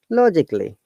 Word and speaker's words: logically: If you find any words having A-L-L-Y at the end, we do not pronounce A. A is a short sound in this words. In English phonetics, short sound means the sound which we do not pronounce it at all.